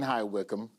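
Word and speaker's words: High Wycombe: Staying in high wickham.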